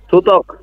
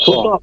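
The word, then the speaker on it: 듣기: এখন বলেন উচ্চারণ কি হবে এখানে? থুত, থুতক। এই যে থু আর ত, থুত। আর এখানে হবে কি? থুত ক। থুতক।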